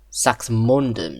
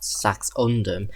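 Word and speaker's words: Saxmundham: Sax Sax Mundom, not Saxundom.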